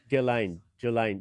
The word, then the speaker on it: Ghislaine: It's G. The H is silent. Ghislaine. And the S is silent too.